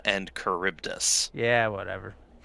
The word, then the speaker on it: Charybdis: Scylla and Charybdis. What? It's pronounced Scylla and Charybdis.